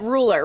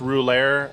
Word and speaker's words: Rouleur: of cyclist right yeah it's a French word it's pronounced ruler overseas but it's a type